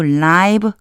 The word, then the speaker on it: live: that to live cleans. 요거요 제가 live라고 읽었죠. 살아 있는 이런 뜻이에요. 살다라는 뜻도 있지만 살아 있는이라고 하는 뜻이에요. 여기서 그래서 라이브라고 읽어 주셔야 돼요.